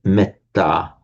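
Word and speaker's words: mettā: So, for example, the word metta is in Pali, it's pronounced as a short e.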